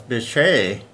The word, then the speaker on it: Bitche: was appropriate name like I said the French pronunciation was Bechet about of course the ji is called a